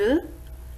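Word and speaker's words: œufs: une pincée de sel attention dans le mot up au pluriel on ne prononce pas le f bondi à 9 des oeufs maintenant on passe à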